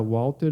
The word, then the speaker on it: Walter: Eu vou chamar ele de Walter aqui, é com W. Em inglês se pronuncia Walter, mas aqui eu vou falar Walter porque eu tô falando português.